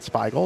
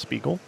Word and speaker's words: Spiegel: So say his name, not Spiegel, it's Spiegel.